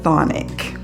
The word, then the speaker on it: Chthonic: Now, I did have to look up how to pronounce this word. It is the Chthonic. And if you look carefully here, I'll spell it for you. It's Chthonic.